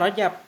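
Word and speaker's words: رجب: apa dari Rajib Hai kalau dari Rajib mestinya rujak tapi ini bacanya Rojab eh G2 Isa uridu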